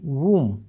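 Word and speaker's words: womb: कि इनका उच्चारण जो है ना आप देखना डब्ल्यू ओ एम बी वूम इसको हम कोक कहते हैं।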